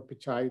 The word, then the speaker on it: Pichai: Right to that image is the current CEO of Google, Sundar Pichai, or Pichai, the right way to say it.